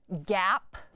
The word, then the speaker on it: gap: After the G, I see an A. That's another clue that this is a hard G. Say the word gap. Gap is a hard G sound.